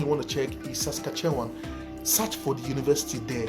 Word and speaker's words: Saskatchewan: Yeah, till now everybody don't know how to pronounce it, but just Saskatchewan. Some people just say Saskatchewan.